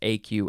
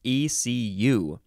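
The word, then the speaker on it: écu: stuff FL FL FL the second form of AQ is not pronounced AQ at all it is literally pronounced ECU this is a noun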